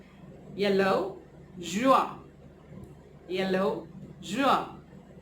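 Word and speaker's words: jaune: Then we have yellow, the favorite color yellow, which is juin. Yellow, juin, yellow, juin, right?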